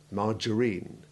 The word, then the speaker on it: margarine: our section on G, this word for a vegetable substitute for butter comes from French, in which it has a hard G followed by a short A1. But on adoption into English, it eccentrically and unaccountably assumed a soft G. And as this contravenes the usual rule that G followed by A is hard, the A has assumed the short A2 ivy sound, margarine.